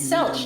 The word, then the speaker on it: Selch: What do you mean it's pronounced Selk? It has a CH. For each we saved, another perished. If there is anything else we can do to help, anything at all... It's Selch, like Belch.